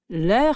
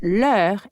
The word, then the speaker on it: leur: Finally, when we are expressing their, we can either say leur mère or leur famille. Both are pronounced exactly the same, but leur is used in the